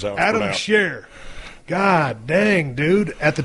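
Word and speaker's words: Scherr: Adam Shares. Adam Shear.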